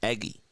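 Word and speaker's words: Eguy: Spells it E-G-U-Y. That's how you pronounce it, Eggy.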